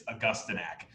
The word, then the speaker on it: Augustinak: it's totally fine because a million people misspell and mispronounce my name it's augustinak and it's been happening